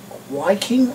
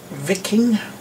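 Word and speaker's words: Wiking: this and a corgi wking or vicking I suppose that would be pronounced a viking if you want to pronounce the W as a v you know the German Way uh Mercedes 0302 post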